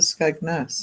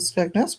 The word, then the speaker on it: Skegness: him back saying said, "Did you mean to say Skagness? You said it on purpose." He says, "Well, that's what it's called, isn't it?" No. I thought everybody knew that Skagness was called Skagness, but There's an E in it.